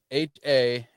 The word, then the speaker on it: Hanumankind: HANUMANKIND. And it's pronounced Hanuman Kin.